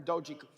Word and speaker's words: Dogecoin: how you say it, but I have 10 Dogecoin, which a year ago, is it Dogecoin or Dogecoin? Dogecoin. Bruh. All right, I have 10 Dogecoins, all right? A year ago, 10 Dogecoins, for sake of argument, was worth $1,000, so